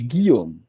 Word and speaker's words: Guillaume: So it's Guillaume. So all that with just a Guillaume. hard G.